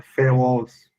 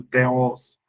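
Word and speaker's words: θεός: E aí é importante aqui você pensar no original, porque no original o termo é feos, ou como alguns pronunciam, teos.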